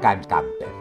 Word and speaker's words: Gamper: futuro Fútbol Club Barcelona para los catalanes era difícil pronunciar la H de James y la g alemana de Camper lo conocían como canter él ya hablaba Catalán